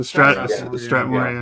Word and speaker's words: Strathmore: There's uh how do you pronounce this Strathmore? The Stratmore.